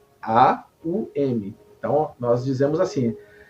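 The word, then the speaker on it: AUM: m a u m a u m então nós dizemos assim a Então são três palavras a u m mas a letra M nós a pronunciamos como hum no final né então o mantra que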